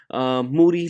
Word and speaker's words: Moody: I Am Rappaport Podcast with Moody, last name rhyme with Duty, and Michael Rappaport, obviously, and I watch the Joe Rogan Experience.